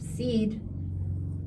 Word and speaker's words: said: But when we have said, it's spelt the same, but it's pronounced differently. See what I mean? Yeah. So we've got to remember for said.